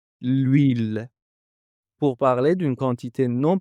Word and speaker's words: l'huile: Nous avons un nom qui commence par un h muet, l'huile.